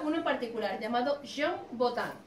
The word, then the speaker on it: Botin: Entonces Botin era un apellido francés que se escribe con I. ¿Y Botín? ¿Qué pasa? Que la gente entendió que Botín, y se quedó restaurante de Botín.